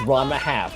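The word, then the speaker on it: Ranma ½: It's Ranma Half.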